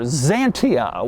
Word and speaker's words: Xantia: name of this car Zania which obviously is spelled with an X and is weird it